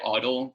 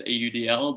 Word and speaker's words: AUDL: the udl i don't i do not say audible by the way i always spell it out with its letters audl but i don't know